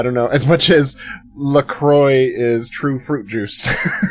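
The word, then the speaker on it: La Croix: Laqua. Hey, we've been informed that that is incorrect. You can't say it like a French person or else you go to jail immediately.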